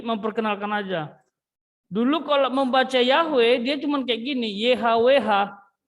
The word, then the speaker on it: Yahweh: aja dulu kalau membaca Yahweh dia cuman kayak gini yhwh cuman gitu doang dia ya kalau sekarang dibaca Yahweh kalau dulu enggak yhwh Tapi bacanya memang yahwe Tapi tulisan yhwh sekarang